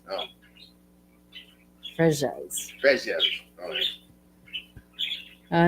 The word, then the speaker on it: Freesias: Freesias. Free. Not. It's you don't pronounce the Z. It's like a J. Oh. Fresias.